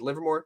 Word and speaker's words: Livermore: Do you guys know how close is Livermore to is Livermore? That's how you pronounce it? Yes, that's correct.